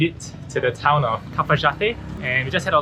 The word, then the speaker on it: Cafayate: Interesting thing is that over here they pronounce the Y as a J. So Cafayate is pronounced Cafayate, and I had a dessert called cajote, which is spelled as coyote.